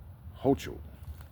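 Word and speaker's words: Hochul: medium security prison reports of which governor Kathy hoo I think that's how you pronounce her name h o c h u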